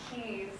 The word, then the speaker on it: keys: pulled up my kitchen it's pronounced keys yes you should have seen your face bright red well now you'll never confuse keys for kiss again can you blame